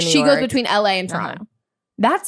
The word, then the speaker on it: Toronto: And then also, you're hearing how I'm pronouncing it, very Canadian. Toronto, not like Toronto.